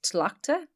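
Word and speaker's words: Tlachta: of Ward um so the Irish name for that is tilakta so it's t-l-a-c-h-t-a which is about 12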